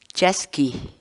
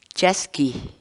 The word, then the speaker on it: chaskiy: series videos where we teach you how to pronounce certain words in quechua so our word of the day for today is Jeske Jeske Jeske in English the cat's wall word Jeske